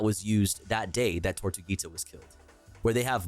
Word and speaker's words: Tortuguita: proposed Cop City training facility, rest in peace, Tortuga. Wait, is it Tortuga? Did I say it right? I think it's Tortuguita.